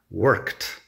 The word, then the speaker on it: worked: ahí es la pronunciación worked que la Ed se pronuncia como si fuera t work pero eso ya